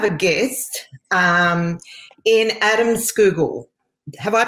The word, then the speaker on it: Scougal: today i have a guest um in adam schoogle have i pronounced that correctly adam you you've done amazingly well there it's normally people say scowgle or even they add an r well that's there's